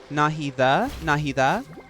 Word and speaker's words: Nahida: Okay, while we're on the topic, it's not pronounced Nahida. It's Nahida. Nahi like Mahi. Softy sound.